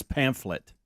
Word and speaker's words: pamphlet: has a pamphlet on pamplet ain't the proper way to say it I always call it pamphlet too but I think that you we're saying it wrong pet it's pamphlet actually that is ridiculous no